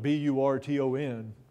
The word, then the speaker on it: Burton: And it's actually, in this case, it's spelled B-U-R-T-O-N. Yeah, even though the French spelling was usually B-R-E-T-O-N and is often pronounced Britain. In this case, it's Burton.